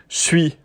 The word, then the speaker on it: suis: en fait, à l'oral, ils disent beaucoup, pas tout le temps, mais quand même, assez souvent, suis. Donc un petit peu comme C-H-U-I. Ça s'écrit pas du tout C-H-U-I, mais en termes de prononciation, on pourrait dire que ça se rapproche un petit peu du C-H-U-I, suis.